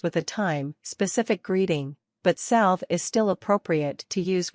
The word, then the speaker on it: salve: Greet people with salve in neutral situations. Pronounce salve as sal, ve.